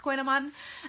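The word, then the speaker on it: kouign-amann: coogan almond to two different words but it's pronounced koinoman uh aquinoman is a uh this sort of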